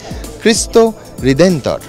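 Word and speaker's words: Cristo Redentor: এরা পর্তুগিজ ভাষায় একে বলেন অনেক কষ্ট করে উচ্চারণটা শিখেছি। তাই আপনাদের শুনিয়েই ছাড়বো। খ্রিস্ট হৃদেন্তর।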